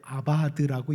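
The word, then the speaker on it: עבד: 바알 섬기는 자라는 이 표현, 섬긴다는 단어가 히브리어를 읽을 때 아바드라고 읽습니다. 아바드라고 읽습니다. 그런데 그 예후가 바알 섬기는 자를 멸한다 그러죠. 이 멸한다는 단어도 아바드라고 읽습니다. 철자는 다른데 아바드라고 읽는 건 똑같아요.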